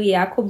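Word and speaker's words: Yaqub: conhecer a história do yacob e do woman eu descobri que se pronunciava assim por conta da do trailer da Globo que na minissérie é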